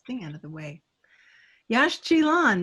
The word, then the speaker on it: Yaxchilan: Yash Chilan, that's how you pronounce that.